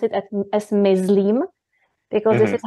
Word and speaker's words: myslím: you are a beginner, you automatically, I think, pronounce it as myslím, because this is how you do it in German. But if you hear it first many times, myslím, myslím, myslím, it gets in your brain, in